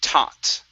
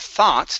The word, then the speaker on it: taught: thought him okay uh this is going to be taught okay instead of thought there there isn't an H here so it's taught taught him taught him